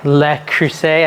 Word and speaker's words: Le Creuset: this little pot I've got set up my Le Creuset I say it wrong the French cast iron